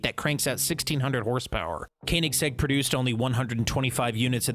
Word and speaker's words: Koenigsegg: It's Koenigsegg Jesko.